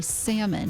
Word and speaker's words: salmon: And I was like, Dad, just so you know, you don't pronounce the L in salmon. You say salmon.